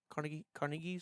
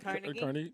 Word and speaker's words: Carnegie: The Carnegies, The Carters? Ooh, Carnegie Hall. Not thank you. Carnegie.